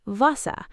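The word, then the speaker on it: Wasser: And vasa water is more like vasa.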